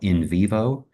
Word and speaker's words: NVivo: My department tried to purchase a subscription to a software package called InVivo, which you may have heard of. It's spelled like the letter N, Vivo.